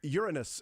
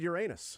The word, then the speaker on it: Uranus: man I don't know Uranus is correct well that's not how I'd pronounce it we also would have accepted your anus we sure would have